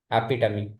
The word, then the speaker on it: epitome: Epitome.